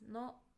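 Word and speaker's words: の: It's pronounced as no and it shows that something belongs to someone.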